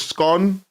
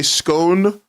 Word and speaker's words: scone: The right way to say it is scone. If you say scone, I'll still love you, but you will be on watch.